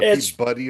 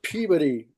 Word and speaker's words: Peabody: There's a Peabuddy Award. It's pronounced It's pronounced Peabody.